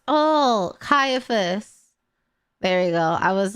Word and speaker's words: Caiaphas: Caiaphas? Oh, Caiaphas.